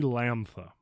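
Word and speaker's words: Λάμδα: different parts of the country but it's actually Lampa this is not moo this is me same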